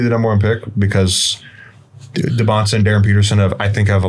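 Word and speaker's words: Dybantsa: The way he pronounces it is DeBonsa. DeBonsa. These people, I've heard DeBansa. It's DeBonsa. That's how I pronounce it, actually.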